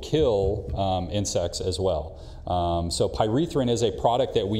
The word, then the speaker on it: pyrethrin: I've recently seen a substance called, and I'm probably mispronouncing this, pyrethrin?